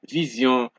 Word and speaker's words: vision: And we have that zion sound once more, because remember what we said in a lesson earlier, when an S comes between two vowels, it gives you a Z sound.